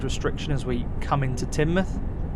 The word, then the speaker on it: Teignmouth: per hour speed restriction as we come into Teignmouth. It's always an interesting town to pronounce. Always heard people calling it Teignmouth. We are now approaching Teignmouth.